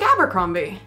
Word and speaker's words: Abercrombie: two different pronunciations yeah so it sounded like tony was going with the abercrombie like the way we would say it abercrombie but simon has perhaps it's more of the authentic pronunciation i'm not sure if